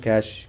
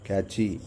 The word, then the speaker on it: cache: processor so Processor have cash catchy you can pronounce it as cash or catchy a catchy memory inside